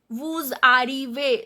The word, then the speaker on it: vous arrivez: Vous arrivez, Z is not pronounced.